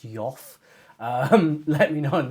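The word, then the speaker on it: Geoff: name correctly aren't I it's Jeff is it's not Joff or something like that he's kind of spelled GE e o f f is it um so do let me know if I'm just like Jeff Jeff Jeff and you're like actually it's it's yof um let me know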